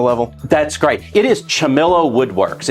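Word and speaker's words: Ciamillo: hobby to professional level that's great it is chamilo Woodworks it's spelled c i a m i l l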